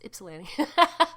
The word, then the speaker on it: Ypsilanti: to be happening in Ypsilanti, Michigan. Ypsilanti, it's with a Y, by the way, if you don't know how to pronounce it, it's Ypsilanti.